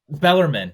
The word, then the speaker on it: Bellarmine: I So think it's Bellarmine. Bellarmine, yes, yes, Yeah, I don't know how to Bellarmine, yep, pronounce it.